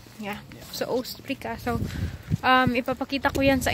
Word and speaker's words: Ostbricka: Ostbricka. Yeah. So Ostbricka.